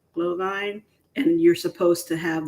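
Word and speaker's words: Glühwein: how it's spelled um but I think it's actually pronounced glow glow Vine glow Vine and you're supposed to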